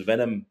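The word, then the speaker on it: Venum: There is also an MMA clothing and gear maker called Venom, but it's spelled V-E-N-U-M.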